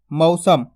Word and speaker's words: मौसम: आसान शब्द अब अपन लिखेंगे मौसम क्या लिखेंगे मौसम अब देखो मैं किस तरीके से शब्द का उच्चारण कर रहा हूं मौसम मैंने मौसम नहीं